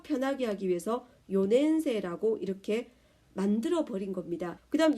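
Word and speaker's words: 四年生: 쉬워 리 라고 하죠 그런 것처럼 일본 사람들도 욘 낸 새해 라고 하면 발음이 편하 같지않은 겁니다 좀 더 편하게 하기 위해서 요 냄새라고 이렇게 만들어 버린 겁니다 그다음 여기는 나오지 않았지만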